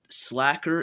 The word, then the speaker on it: Slacker: confirmed this yet but I know for a fact that slacker is how it's supposed to be pronounced because if you think